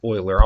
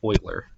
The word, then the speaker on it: Euler: know I'm not saying boiler with Abby its oiler I'll write his name on screen for you it's spelled like Euler but it's pronounced Euler like this so the fractions represent the ratios